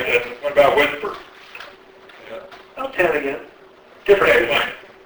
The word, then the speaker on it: WSPR: Then there's this funny mode called Whisper, WSPR, pronounced Whisper, which is sort of a quasi-beacon mode.